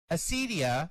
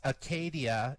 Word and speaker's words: acedia: Acedia, which is pronounced acedia or sometimes Acadia in English, comes from the Greek word acedia or Acadia, meaning lack of care.